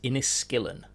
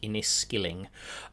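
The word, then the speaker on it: Inniskilling: to remind people that the correct the correct pronunciation is inis skillin um even though it looks like inis Skilling um the inis skill and fusers just no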